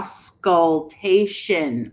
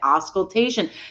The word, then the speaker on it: auscultation: but the question is how do we pronounce it properly ask yeah sculptation i see it auscultation thank you guys okay try again